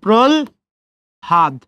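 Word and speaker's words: প্রহ্লাদ: হয় ল আছে, তাহলে কি উচ্চারণ করবেন? ল এবং হ। তাহলে প্রল হাদ কি হয়ে গেল?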